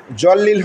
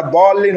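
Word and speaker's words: الضالين: ওলা জলিল হবে না। দলিল হবে।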